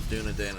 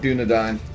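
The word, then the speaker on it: Dúnedain: thought it was Dunedain as well. Nope, Dunedain. Tolkien being the linguist that he is, you know. There's a reason why it's pronounced Dunedain, but like, yeah, it is Dunedain, and I don't know,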